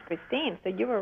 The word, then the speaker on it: Kristin: you know there's actually Christine you were right about it all the time it's just the spelling is Norwegian so it's missing an e at the end okay to pronounce Christine so you were right